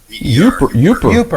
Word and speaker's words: Yooper: Yeah, they pronounce it Yooper.